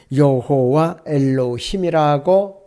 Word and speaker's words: 여호와 엘로힘: 이것이 히브리어 발음은 여호와 엘로힘이라고 발음을 하고 있습니다.